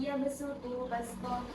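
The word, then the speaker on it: يبسط: Tulisannya shad ada tandanya sin harus dibaca sin yabsuku.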